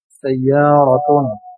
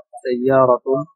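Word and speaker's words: سيارة: সাইয়ারাতুন একটি কার বা গাড়ি, সেটাই বলে। সিন ইয়া আলিফ র তা, সাইয়ারাতুন একটি কার বা গাড়ি।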